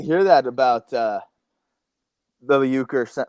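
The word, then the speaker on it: Uecker: Ucker. Uker.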